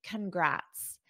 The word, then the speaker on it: congrats: congrats repeat after me congrats so we still have that unstressed sound at the beginning congrats congrats congrats and